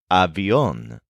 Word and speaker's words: avión: The word for plane is avión, spelled A-V-I-O-N, with an accent on the O.